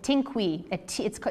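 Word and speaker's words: tinkuy: And in Quechua, it's called a tinkui. You spell this in Quechua, it's spelled T-I-N-K-U-Y, a highly charged sacred space.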